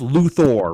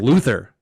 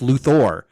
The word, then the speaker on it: Luthor: Hey, speaking of, it's pronounced Luthor, right? Yes. Justice League, they kept saying Luther. Hey, Luther. Hey, Luther. Hey, Luther. And I was like, thought it was fuck Luther. you. No, it's Luthor.